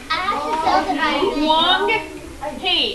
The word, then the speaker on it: Huang He: Huang He. And actually, when you check out the pronunciation, you're going to hear it a little bit differently. But that H has the Hua sound.